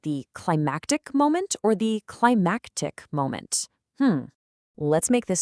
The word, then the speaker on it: climactic: The first word is climatic. See that A sound? Climactic. That's all about the climate, you know, the weather. But the second word is climactic. Hear that? Climactic.